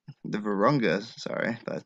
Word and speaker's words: Virunga: and the democratic republic of the congo the virgranga the virunga sorry but butchered that the varunga national park is one